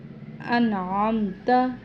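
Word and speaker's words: أنعمت: تو ادا کرنا ہے، یہاں پہ انعم انعم کرنا ہے، عین پڑھنا ہے، انعم نہیں پڑھنا۔ انعمت، یہاں پہ نون پر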